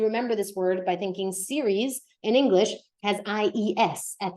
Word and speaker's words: serie: a conversation on el día de playa y la serie quarterback. And I would actually like to start right here with the word la serie, one of my most commonly corrected words as